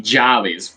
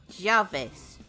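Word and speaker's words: llaves: does that sound make uh Double L sounds like J like like a y okay yeah because if you're gonna say keys would be jollies but it's written double l a v e s okay so Jarvis yeah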